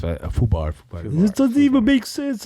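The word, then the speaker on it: FUBAR: It's Foo bar.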